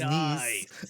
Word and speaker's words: Nice: Apparently it's pronounced Nice.